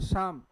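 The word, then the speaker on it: psalm: और फिर क्या लिखा है, शाम, जिसमें पी और एल दोनों क्या है भाई, साइलेंट है।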